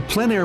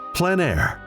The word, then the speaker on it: plein air: Called plein air, the French coined the term, which means open air or outdoors. The French pronounce it plein air. Others say plein air.